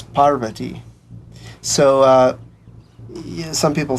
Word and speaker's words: Parvati: her name is pronounced Parvati you know in the west people uh typically say Parvati but the proper Sanskrit pronunciation is Parvati so uh some people